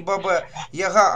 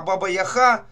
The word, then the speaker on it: Баба-Яга: Во-первых, надо тогда уже говорить, если по чесноку не Баба-Яга, а Баба-Яха, тогда уже будет правильно.